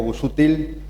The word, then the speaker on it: Busutil: Después felicitar a Guillermo Busutil, así se pronuncia, por la organización de